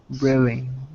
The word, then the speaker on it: Britain: Correct pronunciation. Exotic dishes have become more popular in Britain.